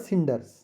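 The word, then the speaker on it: cinders: The poem uses the word सिंडर्स which is pronounce with A S sound, तो इसको किंडर नहीं सिंडर पढ़ा जाएगा, वही मैं शुरू से ही सिंडर ही बोलता आ रहा हूँ इसको।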